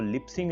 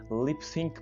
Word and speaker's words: lip sync: तो अब से जब भी आप ये वर्ड बोलें आपने इसको लिप सिंग नहीं बोलना, लिप सिंक बोलना है।